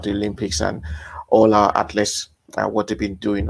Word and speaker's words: ATHLST: do you pronounce it that's that's how you pronounce this atlas uh without the vowels but uh yeah without